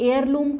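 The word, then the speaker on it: heirloom: Here, ठीक है, ये एयरलूम क्रॉप्स में आता है जो गुच्छी मशरूम है, ठीक है. मतलब एच से स्टार्ट होता है, एच यहाँ पे साइलेंट रहता है, इसको एयरलूम क्रॉप्स कहते हैं.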